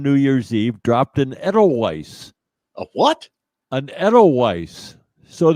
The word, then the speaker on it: Edelweiss: It's probably No, it's pronounced absolutely Edelweiss.